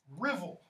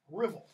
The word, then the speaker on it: Ruthwell: Portions of the poem survive in a big stone cross spelled Ruthwell, but it's pronounced Rivel, like drivel without the D. Rivel, okay? The Rivel Cross, which is in Dumfries, Scotland, I think it currently stands, it's like 18 feet tall.